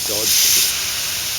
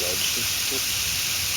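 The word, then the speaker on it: Dodgson: I think he pronounced it Dodd, but it should really be pronounced Dodson.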